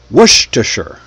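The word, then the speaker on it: Worcestershire: No, it's pronounced worstureer.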